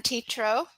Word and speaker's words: Teatro: And our guest today is Lynn Teatro. Lynn, I didn't ask you beforehand. I'm sorry. Am I pronouncing your last name correctly? You are pronouncing it perfectly. It's tea and coffee, tea and tro.